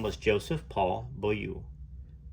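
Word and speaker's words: Beaulieu: name was Joseph Paul boou well pronounced bolu bolu Joseph Paul anyhow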